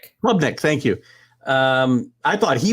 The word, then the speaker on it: Klubnik: Klubnik, thank you.